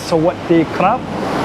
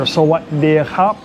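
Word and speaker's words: สวัสดีครับ: So, the proper way to say it is sawatdee khap. You kind of roll your R, khap. But, you'll hear a lot of places they say sawatdee khap, which is easier. Sawadee khap. Uh khap like k o p.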